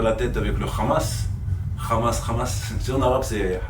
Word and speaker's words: Hamas: si il parl anglais tu dis how c'est le H se prononce et du coup c'est pas Hamas c'est Hamas il faut dire qu'il